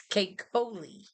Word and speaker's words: Keikoli: So for any of you who's interested, it is Native American and it's Keikoli.